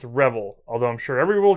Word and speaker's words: Revel: I keep wanting to say reveal, I think it's Revel, although I'm sure everyone will complain that I mispronounced it anyway.